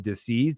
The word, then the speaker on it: dis-ease: What do you mean dis-ease? Did you spell that wrong? No, it's dis-ease. It's a lack of ease.